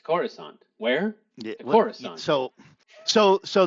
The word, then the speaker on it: Coruscant: because I must have Corissant. I must I must have started saying that for some reason. Yeah. Where are you going? To Coruscant.